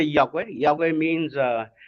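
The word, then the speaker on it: Iakwe: Yahweh means, so I'm going to syllableize Yahweh first. Yahweh, I-A, is Yah, that's mean rainbow, and Kwe mean you.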